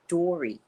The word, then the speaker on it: Dory: grandmother dory dory oh my granddaughter pronounces it with this hard d door i can't even do it like she does it this is hard d how is everyone doing